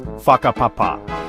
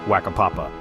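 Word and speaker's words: whakapapa: The WH is pronounced like an F. So, waka papapa is faka papapa, not waka papapa.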